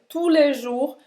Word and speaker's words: tous les jours: Ou seja, je prie, eu rezo tous les jours, todos os dias. Presta atenção, tous les jours, a gente não vai pronunciar o S em nenhuma dessas palavras, tá?